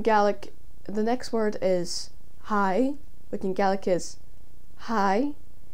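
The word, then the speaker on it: haigh: next word in gaelic the next word is hai which in galaxies hi h a i d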